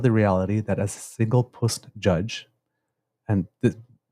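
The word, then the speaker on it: puisne: am conscious of the reality that a single puss judge and this P I had to look it up because it's spelled p i s NE and it basically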